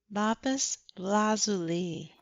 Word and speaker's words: lapis lazuli: Also, because I said the name wrong, it is lapis lazuli, and not what I said, which I don't even remember what I said, but I said it wrong.